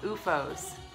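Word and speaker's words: OOFOS: It's called UFOS. It's kind of hard to see it, but it's spelled O-O-F-O-S.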